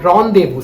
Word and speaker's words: rendezvous: first word the first word is honde vu rendezvous so guys i'm going to put the spellings right down in the below the screen so you can check them out rendezvous literally means a meeting how am i going